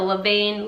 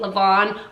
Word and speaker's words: levain: Some people pronounce a leaven, a levain, levain.